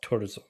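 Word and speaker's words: Thurzó: I think I think I don't know how to pronounce Hungarian but I think it's pronounced tzo tzo okay had turzo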